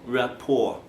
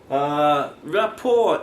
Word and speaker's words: rapport: is sometimes called rapport it's a french word so we don't pronounce the final t rapport rapport is to create a